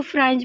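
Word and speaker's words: Frantz: pros आ गया है तो प्रोज में हमको फ्रेंज इसको फ्रेंज पढ़ेंगे टी साइलेंट फ्रेंज फैनल का ब्लैक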